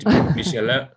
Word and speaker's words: Guide Michelin: new stars for the restaurants, how are they pronounced? Guide Michelin? Guide Michelin.